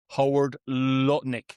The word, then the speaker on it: Lutnick: Howard Lutnick.